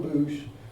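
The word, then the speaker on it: Beus: In 1890, the organization was changed to a branch of the Alma Ward Cash Stake, and John Boosh was a presiding elder, pronounced or spelled B-E-U-S.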